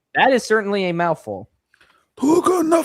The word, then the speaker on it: Tokon: Tokon Fighting Soul is the correct pronunciation.